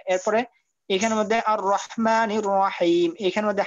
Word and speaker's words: الرحيم: আচ্ছা, এরপরে এখানে মধ্যে আর রহমানির রহিম, এখানে মধ্যে হার উচ্চারণটা একটু চাপ দিয়ে পড়তে হবে আর রকে মোটা করতে হবে।